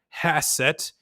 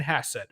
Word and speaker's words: Hassett: We want Kevin Hasset. All right. His name rhymes with asset. That's why we want Kevin Hasset.